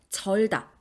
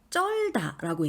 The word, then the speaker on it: 절다: 발음한다 그건 잘못된 발음이에요 예를 들어 뭔가에 흠뻑 젖어 들었다라고 말할 때 절다 우리 흔히 이걸 쩔다라고 얘기하거든요 아 땀에 쩔었어 이렇게요 근데 그건 기본 형태가 지읒 쌍지읒이 아니고 지읒 하나거든요 그러면 첫 음절 첫소리 지읒이 된소리로 표기되어 있지 않은데 쩔로 발음했다 이건 잘못된 겁니다 경음악 현상에 의해서 만들어지는